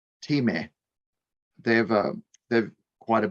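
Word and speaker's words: Thieme: publishing company t-h-i-e-m-e which i always sort of just pronounced as theme but when i was in germany a few years ago they said it's like team they have a quite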